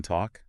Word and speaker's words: talk: Um, so one example is the L in talk. Oh, yeah. Yeah. So, your sources mentioned that was pronounced and actually you can still hear that L pronounced in some UK dialects today. Interesting. But like for most of us, we don't even think about pronouncing that L.